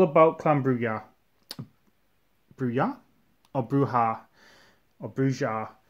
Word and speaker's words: Brujah: clambruya or bruja or brujar i've heard it pronounced many different ways for years i used to say bruja but of late i've been calling him bruha quite like the way bruja sounds uh i think it